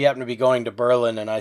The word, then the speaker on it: Berlin: spelled but of course in world war ii they changed the pronunciation to berlin because they didn't want the association obviously and there still